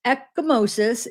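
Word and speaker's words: ecchymosis: So, echimosis, pronounced echimosis, is the the medical term for a bruise.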